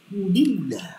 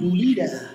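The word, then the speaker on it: الحمد لله: Di situ ada lam tasjid atau lam syamsiah. Dulillah. Bukan dulah. Tapi dulillah. Bukan dulila.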